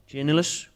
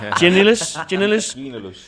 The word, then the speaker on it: Giannoulis: Byram, Grant Hanley, Zimmerman, and Dimitris Giannoulis. We'll go with Dimitris. I've ever seen you struggle to pronounce the name. Giannoulis.